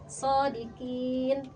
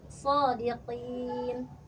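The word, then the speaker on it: صادقين: Tadi di ayat 41 Kakak bacanya seperti kaf shodqin ya. Harusnya shodiqin. Sodiqin gitu ya, Kak ya.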